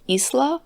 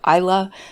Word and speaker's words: Isla: The main character, I believe her name is meant to be pronounced Isla, but where I'm from we say Isla, so I'll probably just